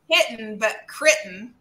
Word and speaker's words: Crittenden: Crittenden. But that's quite right. Yeah, pronounced the way it's spelled.